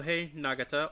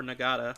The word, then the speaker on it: Nagata: Ridoki, who's the red Gavan, he is played by Koh Nagata or Nagada, I'm not sure how you pronounce that. I think it's Nagata. Um, Setsuna Aiko Kuin is uh played by Ryuga Akahane.